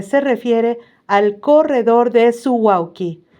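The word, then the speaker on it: Suwałki: refiere al corredor de su wauki. Así se pronuncia, pero se escribe su u a l k i.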